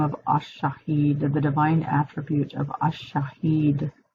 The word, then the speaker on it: ash-Shahid: want to call on the name of ash-Shahid, the divine attribute of ash-Shahid, the witness, and that's spelled S as in Sam, H-A-H-I-D.